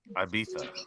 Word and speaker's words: Ibiza: I want to go to a how do you pronounce Ibiza? Ibiza.